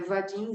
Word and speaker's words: Vadim: Então é Vadim Zeland.